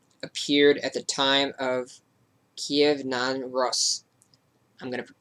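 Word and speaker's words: Kyiv: and like i spoke about earlier how we say kiev that's how russians would say it how ukrainians say it is kiev so if you pronounce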